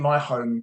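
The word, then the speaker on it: MiHome: The system that I use in my home to control a lot of things is a company called Energenie, and they've got a range called My Home, and that's spelled MI-Home.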